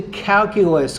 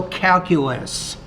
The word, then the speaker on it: calculus: Okay, I think you're saying calculus there, but you might not be pronouncing that S on the end.